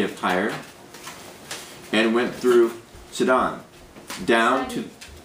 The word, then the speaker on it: Sidon: TI and went through sedon down to more sidon sidon pretty sure it's Sid I'm going to change